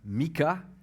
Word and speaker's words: Michée: un des petits prophète michée ou mika comme il est prononcé en a blessé plus près de la prononciation hébreu aussi qui signifie qui